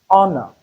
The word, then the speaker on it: honor: Meaning that H is silent. So it is honor.